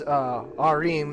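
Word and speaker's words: Joachim: Arim, that's how you pronounce that name.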